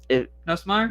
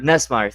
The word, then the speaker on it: Nussmeier: I don't want to try to pronounce his last name. Nussmeier? Nessmeyer, thank you.